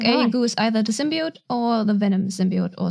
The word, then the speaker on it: symbiote: Symbionts, with an N, the technical term is not symbiotes, symbionts are two organisms living in symbiosis.